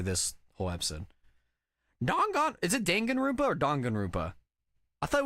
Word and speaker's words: Danganronpa: Danganronpa? Yeah. But like, yeah, officially, I think it's pronounced, at least in English, it's Danganronpa.